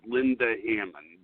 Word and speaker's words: Linda Hammond: the chakra day for, her name is Linda Hammond. Did I say it right? Yeah, you did. There's not any way to say it, though. So, yeah, okay. You said it right.